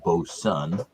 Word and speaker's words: Boatswain: and the what's that what looks literally is boatswain is actually pronounced bo sun on the can bows